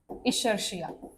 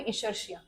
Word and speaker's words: Escherichia: अब ये इको आर1 देखो आया कहां से, ई जो है ये आया है इशर्शिया।